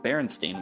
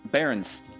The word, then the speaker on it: Berenstain: The son of one of the authors in an interview said barely anyone pronounced it correctly while he was growing up. They always called him Berenstein or Berenstein.